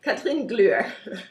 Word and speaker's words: Kathrin: doesn't already know how to say it okay catherine catherine and i'm or